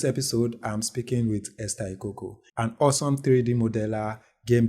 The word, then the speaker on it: Ikoko: soul name pronounced oh my son name is pronounced eoko yeah okay and you said you were from